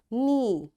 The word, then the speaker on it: knee: knock, knot, knit, knob, knee, and knuckle, and knowledge. You see, in all these words, because K is there and right after K there is N, that's why this K is silent, right?